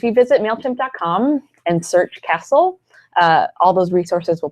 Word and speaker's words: CASL: spell it for us it c a l SL sounds like Castle but it's it's four letters just four letters all about Canadian compliance